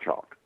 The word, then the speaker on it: Chalk: You're listening to part 1 of the Radio Free Cybertron Garry Chalk interview.